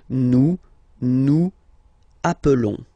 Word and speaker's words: nous appelons: Nous appelons. And then little link would be perfect, so let's pronounce the whole thing again. Nous appelons. Nous appelons, okay? Final S doesn't exist.